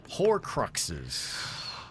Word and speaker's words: Horcrux: It rhymes with a word. Jones? Loans? No. Horcruxes. What's that rhyme with? Well, I said you like the stones and you like the whores. So it's Horcrux.